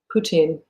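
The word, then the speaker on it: Путин: know that over time poutine and i've heard his name is pronounced that way in russian so i'll try to say it putin has been evidencing a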